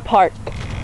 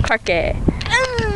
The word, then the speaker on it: parque: This is the park. El park. No, that's not how you say it. It's parque.